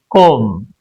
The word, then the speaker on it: comb: B is silent before T after M.